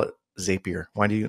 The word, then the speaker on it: Zapier: They're saying it wrong. I agree with you. Yeah. It's Zapier. Anyways.